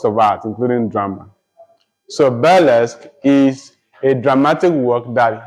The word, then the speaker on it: burlesque: Then you have burlesque. Burlesque is spelled B-U-R-L-E-S-Q-U-E.